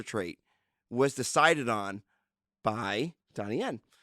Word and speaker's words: Donnie Yen: And one is the actor that was chosen, Danny Wynn. Donnie Yen. Donnie Yen. Racist. Donnie Yen. Nope, Donnie Wynn, you going to say it right.